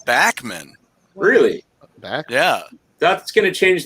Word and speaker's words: Bachman: pete bachmann not well he pronounces it backman really yeah that's gonna